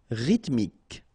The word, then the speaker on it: rythmique: Remember, Y pronounced like I and then H doesn't exist. Rythmique. Rythmique.